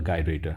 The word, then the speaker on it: gyrator: so just back to this gyrator or gyrator it can be pronounced as a gyrator or a gyrator so there is no problem in that now coming back to